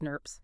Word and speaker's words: snRNPs: These RNA protein complexes are called small nuclear ribboucle proteins or snrnnps often pronounced snurps snurps.